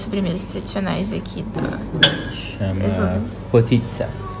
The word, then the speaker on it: potica: Chama potitsa. Apesar de se escrever em português, a gente falaria potica. Potica, mas fala Potitsa.